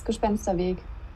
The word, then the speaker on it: Gespensterweg: Gespensterweg, is it? It obviously translated the ghostly path, but Clara? Yeah, right. It's Gespensterweg. You pronounced it right.